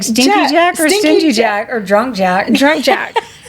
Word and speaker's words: Stingy Jack: But Stingy Jack, I'm going to pronounce that G, invited the devil in for a drink.